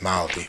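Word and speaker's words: Māori: Zealand for a bit Mari themselves called themselves Mali with a soft kind of L the kind of thing in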